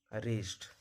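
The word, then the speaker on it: wrist: Answer, wrong, रिस्ट। वाई कब silent होता है?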